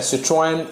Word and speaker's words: Citroën: हालांकि इसका जो प्रोनाउंसिएशन है इंग्लिश में है सिट्रोएन और फ्रेंच में सिट्रोन, और मे बी समथिंग डिफरेंट।